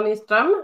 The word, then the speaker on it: Nyström: how to pronounce it would you like to pronounce it for us yeah um so my name is mistram a nickname nice well for anyone who